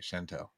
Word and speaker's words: Shantelle: Chantel.